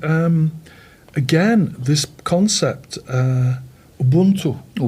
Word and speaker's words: Ubuntu: What's the right pronunciation? Ubuntu. Ubuntu.